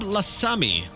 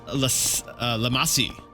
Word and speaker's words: Lamasi: Sure, Hainab Lasami. I totally mispronounced that because the last two letters were S-I, not M-I, but whatever. So Hainab Lamasi.